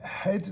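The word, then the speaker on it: חית: C'est une lettre gutturale, d'accord, qui se prononce Het, c'est-à-dire elle est vraiment du fond de la gorge.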